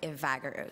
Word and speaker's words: Evagaro: It's pronounced as Evagaro, so it's Evagaro.